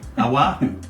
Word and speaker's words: Oahu: How do you pronounce that? Oahu.